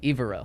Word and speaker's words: Evero: Evero.